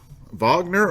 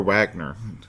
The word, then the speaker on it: Wagner: So, and they're chasing after Kurt Wagner or Wagner. I think you may pronounce it however you choose. Because he is German, I would actually say Wagner, Kurt Wagner.